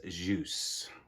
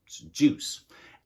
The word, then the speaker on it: Ljus: this is juice now i don't know exactly if i'm saying that right because it's spelled ljus but i googled it and listened to the pronunciation and what i got from it is juice this is so bright